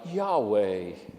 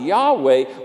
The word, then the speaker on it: Yahweh: Hebrew word for God, Yahweh. Say the first syllable, Yah, as you breathe in, and the second syllable, way, as you breathe out. The Jewish name for God, Yahweh, was not spoken.